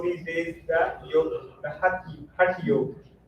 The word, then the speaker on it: Hatha: Then the third one comes is what you see all these days, the yoga, the Hatha yoga. So here mostly it's pronounced as Hatha yoga. Hatha.